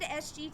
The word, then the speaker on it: SG: does look like her her name is spelled in such a way that it looks like it's sergeant Tiffany but she has stated that is actually s G so hold on s